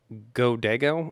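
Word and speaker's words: Godiego: Like, so the music is done by a band called Godego, I think that's how it's pronounced, spelled G-O-D-I-E-G-O.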